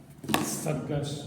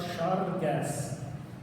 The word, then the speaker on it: цæргæс: Значит, на севере это произносится «саргаш», то есть это «с», это «ш». А на юге, Южная Осетия, знаете, государственная граница, все дела, но там не другой диалект, а говор иронского диалекта. Вот. И выглядит это так, что они произносят «ц» не как «с», а как «ш». И звучит это как «шаргас».